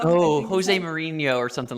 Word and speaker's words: Mourinho: It's a Portuguese name, Mourinho. Oh, Jose Mourinho or something like that.